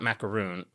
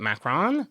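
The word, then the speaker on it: macaron: Macron, not macaroon. How do you say it? Macarron.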